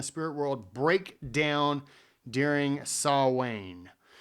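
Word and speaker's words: Samhain: world break down during saw way or saw win it's so weird because it's spelled s m h a i n anyways so it allows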